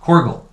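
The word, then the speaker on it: Korgull: Korgel.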